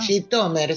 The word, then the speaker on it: Zhitomir: localidad eh bastante famosa jomir o gitomer no Cómo se pronuncia gitomer sí yomer decían eh los judíos oriundos digamos en idish Aunque probablemente en el lengua original del país es jomir pero los judíos se referían